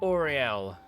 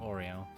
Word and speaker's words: Oriel: No, it's Oriel. Although when a certain set of characters pronounce it, it sounds like they're saying Oreo.